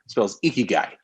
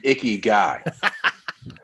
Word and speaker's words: ikigai: i so i k i g a i icky guy love it when i first said it out loud my son thought i was talking about a gross male like he was an icky guy well like no you showed me that diagram